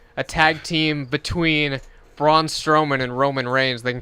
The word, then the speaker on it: Strowman: I was like, Strowman rhymes with Roman.